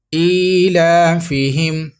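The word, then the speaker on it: إِيلَافِهِمْ: ہیں، آپ ریپیٹ کیجئے۔ حمزہ کھڑا زیر ای، لام کھڑا زبر لا، ایلا، فا زیر فی، ایلافی، ہا میم زیر ہم، ایلافہم، را حا زیر رح،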